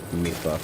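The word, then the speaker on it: Mipha: I'm pretty sure Mifa is pronounced Mifa.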